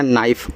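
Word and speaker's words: knee: अर्थ होता है चाकू के एन डबल ई देखो के के बाद एन यहां भी आ गया तो के आपका साइलेंट रहेगा। इसका उच्चारण नहीं कहना है। एन सेना मैंने शुरुआत में ही बोला था नीड में कि डबल ई यहां भी आपकी बड़ी ई की मात्रा बनाएगी। नी हो गया और नी का अर्थ होता है घुटना।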